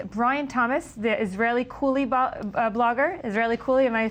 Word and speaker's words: Israellycool: Israellycool, am I pronouncing that right?